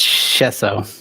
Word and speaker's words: Schoessow: You got it really close. It's Chesso.